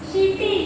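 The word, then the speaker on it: city: अब यहाँ पर सी का उच्चारण क्या होगा? क नहीं होगा, ठीक है। यहाँ पर सी का उच्चारण जो है वो क नहीं होगा, स होगा, है ना। और ये पूरा जो लिखा है वो क्या हो जाएगा? सीटी, सी आई टी वाई, है ना।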